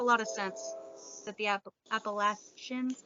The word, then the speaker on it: Appalachians: it makes a lot of sense that the appalachians how do you say it again you got it appalachians are full of them i had heard that